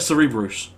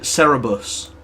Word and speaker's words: Cerberus: I pronounce that Cerberus, just because that's what I do. And that pisses people off. Fuck, I forgot gold. But then some people pronounce it Cerebus, and I'm just like, that just sounds retarded.